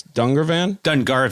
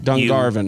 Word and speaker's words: Dungarvan: Dungarvan? Dungarvan. You barbarian. Yeah. Yeah, I'm sorry. It's okay. Dungarvan. Sorry. Got a lot to prove. I guess I don't care about the Irish. Yeah, Dungarvan.